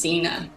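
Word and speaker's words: Cena: So, yeah, my great grandma's Yeah, my great grandma's um mom's name is Zena. Zena. Yeah, it's spelled C E N A, it's very interesting.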